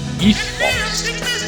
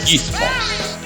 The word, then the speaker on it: isthmus: So isthmus, the TH is silent in here. It now become you pronounce it as isthmus, isthmus, isthmus.